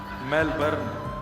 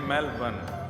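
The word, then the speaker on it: Melbourne: एक भैया बोले मेल मेलबर्न जो मैल को जला दे मेलबर्न मैंने कहा नहीं मेलबर्न र जो है वो साइलेंट बोलो तो लेकिन हुआ क्या यहां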